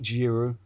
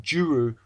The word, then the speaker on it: Giroud: Giroud, not Giroud, but Giroud played Pogrebniak. See, I managed to pronounce it.